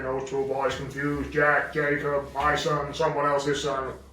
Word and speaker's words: Jacob: That Jack is such a naughty boy. Never does what I tell him to do. Go and clean your bedroom. You just said my name wrong. It's Jacob.